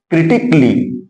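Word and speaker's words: critically: तो आप लोग समझ गए होंगे कि जब कभी भी ए लेटर के बाद यल यल वाई आएगा तो वहां पर ए लेटर साइलेंट हो जाएगा, उसका कोई उच्चारण नहीं किया जाएगा।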